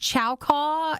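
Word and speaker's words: Chaokoh: in the aisle to find it and it's pronounced chauco it's c-h-a-o-k-o-h and it is a brand of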